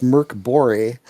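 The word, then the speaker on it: Mörk Borg: Now, if you remember Mork Borg, or as it's supposed to be pronounced, Merc Bore, that came out a couple years ago, kind of an open source horror-based role-playing game.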